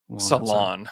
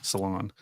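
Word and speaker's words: Salaün: if you saw that they had it as s- laon like Salon Salon yeah that's definitely the American way to say it salon which I feel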